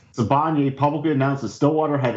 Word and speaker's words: Sibanye: I can't pronounce anything. Stillwater and... How do you say it? Sibanye. Sibanye publicly announced that Stillwater had entered into an